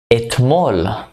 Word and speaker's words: Etmol: Etmol. Etmol is yesterday. Etmol. Yesterday. It's like saying, yesterday I was at the mall. Etmol. At mall.